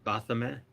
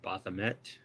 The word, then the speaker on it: Baphomet: my favorite symbols um the bathymet or bathamet depending on how you want to pronounce it uh represents duality of